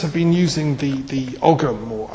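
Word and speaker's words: ogham: Now The Druids have been using the the ogum or om script as it's um properly pronounced um for as long as the runes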